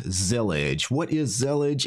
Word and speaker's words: Zellij: nothing to do with intellig so it's not zelig it's actually zelig what this is this is a Moroccan Arabic